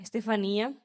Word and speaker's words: Estefania: eu tenho 20 anos, o meu nome se pronuncia Estefania, mas o pessoal me conhece como Stefia, então o negócio é assim.